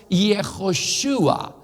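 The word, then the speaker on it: יְהוֹשֻׁעַ: el nombre hebreo es yehoshúa jehová salvación se los voy a escribir fonéticamente hijo su a la última letra no se pronuncia pero no es una h tampoco así es que dejémoslo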